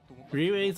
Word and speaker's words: Ribei: Ribei's on the left, and Maki's on the right. Just so you guys know, even though Ribei's name is spelled live, it's pronounced Ribei, two syllables.